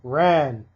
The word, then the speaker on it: Ran: Now, not a lot of people know this character, but number seven is Ran or Run, if you want to pronounce that way, from your Yatsura.